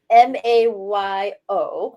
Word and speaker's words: Mayo: It's mail like drop it in the mail or Mayo, mail like a guy? Mayo, Oh, M-A, Mayo, like the Mayo. mayonnaise. Okay.